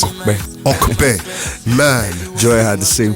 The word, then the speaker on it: Ope: So it's spelled O-P-E. Yeah. Pronounced O-K-P-E.